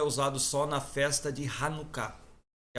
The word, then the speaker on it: Hanukkah: Toda vez que você vê uma palavra hebraica que foi latinizada e tá CH, você lê Ha. Não é chá. É um cultural, né? É. Hanukkah é Hanukkah.